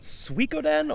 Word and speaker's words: Suikoden: I always wanted to ask, is it Suikoden? Or it's we did a thing at the old place about pronunciation, and it's Suikoden. Suikoden. Like chop suey, like sui. Suikoden.